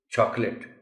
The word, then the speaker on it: chocolate: اب دیکھیں نا لکھا ہوا اگر بچے کو نہیں معلوم وہ تو چاکلیٹ کہے گا اس کو، whereas the correct pronunciation of the word is chocolate, chocolates, etc.